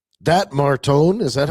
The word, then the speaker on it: Martone: The Flyers look like a competitive, fast bunch, and I don't know, like that Martone.